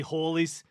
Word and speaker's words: Halley: Halley's comet should be Halley's the comet, but should actually be Hawley's. Should be Hawley's comet as well. 'cause Yep. The name is wrong. Yeah, and they're different saying, oh yeah, back then spelling wasn't consistent, pronunciation wasn't consistent. Probably more likely that it was Hawley than anything else, but unclear.